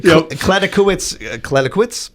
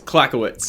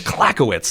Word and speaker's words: Clackowitz: Kladekowicz? Close. Clackowitz. Clackowitz. I knew I was forgetting a syllable there. It's Clackowitz.